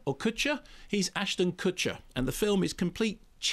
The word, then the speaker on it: Kutcher: but on the question of how do you pronounce his name kusher or Kutcher he's Ashton Kutcher and the film is complete chit